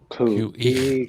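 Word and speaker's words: Khu.éex': Yeah, you pronounce it Khu.éex. QE.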